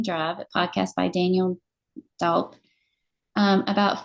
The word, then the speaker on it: Dalp: It's a podcast by Daniel I think his last name is pronounced Dalp or Daup.